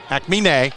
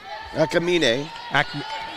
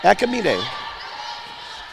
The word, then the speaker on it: Akamine: the initial shooter, and Akmine, I'm getting the emphasis right. Akamine. Akman. Akamine. Think of it as if her name were Spanish. Akamine. I'm forgetting the second syllable is what I'm doing.